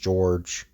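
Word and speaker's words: Georges: first name is just George it's the French name like the Quebec name for George is uh has like an S at the end the the S the S is silent George Baptist and a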